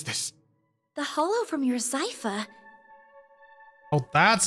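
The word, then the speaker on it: Xipha: The hollow from your Zypha. Oh, that's how you pronounce that. It is Zypha.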